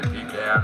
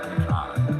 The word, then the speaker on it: pecan: You're gonna have people say pecan and others say pecan.